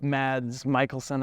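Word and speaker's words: Mads Mikkelsen: so I saw some of the show with mads Michaelson I think is how you say it and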